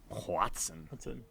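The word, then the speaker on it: Hoatzin: I think of all the spell that it's H O A T Z I N. Watson.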